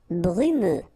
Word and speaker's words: brumeux: Brumeux. Okay, final X not pronounced, so you get this E and then U. Brumeux. Brumeux.